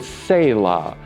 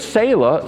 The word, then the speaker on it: Selah: It is the word Selah.